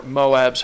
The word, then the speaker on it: MOAB: would pronounce that, and I don't really know who started pronouncing it MOAB, because if you think about it, then you're trying to pronounce it, all is pronounced all, not al. So I don't know where the ab part got out of it. So anyways, I would consider it being pronounced MOB, not Moab.